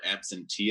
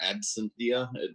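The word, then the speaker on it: Absentia: watching this show called absentee uh or absynthia depending on how you want to pronounce it uh it's an amazon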